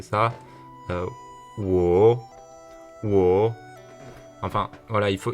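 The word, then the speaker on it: 我: Donc là, c'est un accent, il faut d'abord que ça descende et ensuite il faut que ça remonte. Donc c'est-à-dire qu'on va prononcer ça wo, wo.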